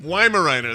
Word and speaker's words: Weimaraner: we think is a Weimaraner. Am I saying it right? Weimaraner or like does it speak in iambic pentameter or is it a Weimaraner? Weimaraner, that's it.